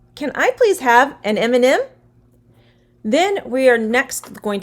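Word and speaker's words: M&M: which is really delicious m and m it has an m the letter m but it is pronounced with a vowel sound e m m so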